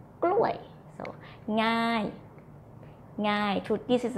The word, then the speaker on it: กล้วย: And then the falling tone for the word banana is gluay.